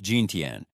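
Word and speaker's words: 今天: Gintian, it sounds like ginten.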